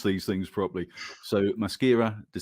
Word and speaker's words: Maschera: this pronunciation all right la mashira de sierra is that right the first is a k the sex is a c right brilliant because that's